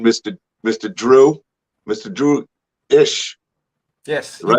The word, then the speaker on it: Eash: mr drew mr drew ish yes you pronounced it right you pronounced it right oh my gosh nobody everybody gets it wrong it's pronounced as if it was spelled ish and you nailed it